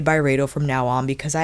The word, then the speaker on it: Byredo: Today we are covering the newly released Byredo, is it Byredo or Byredo?